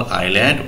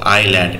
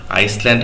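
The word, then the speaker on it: island: ঠিক মাঝে ারজ small আইল্যান্ড with many fruit tree দেখ ঠিক নদীর মাঝে একটা দ ছিল দেখো আইল্যান্ড এস এর উচ্চারণটা কিন্তু সাইলেন্ট হবে আইসল্যান্ড হবে না কিন্তু উচ্চারণ আইল্যান্ড মনে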